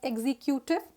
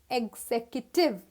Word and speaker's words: executive: we just got executive people usually pronounce it as executive no that is wrong this is executive like you can see